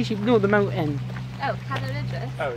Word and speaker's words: Cadair Idris: Oh, Cadair Idris. Oh, yeah. Cadair Idris.